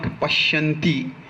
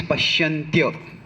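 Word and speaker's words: पश्यन्त्य: If in Sanskrit a word ends with Y, so that it is not pronounced as ti, it is not pashyanti, it is pashyantya.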